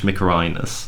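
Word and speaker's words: Mykerinos: uh and menkaura slash mikharinas yeah on officer here the the first version the first variant is the more egyptianized form of the name the second is the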